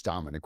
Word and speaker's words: Dominic: Yeah, well, I was named after Domenico Paoloni, but the American pronunciation is Dominick with a K.